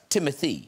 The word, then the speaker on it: Timothée: it's pronounced timothy it's whatever you'd like because i always thought i don't know if you guys i thought it was timothee because of the double e's at the end it's supposed to be but it but you could say doug alex rick whatever works